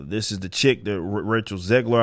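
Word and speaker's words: Rachel Zegler: is the chick the rachel ziegler i believe that's how you say her name snow white she's not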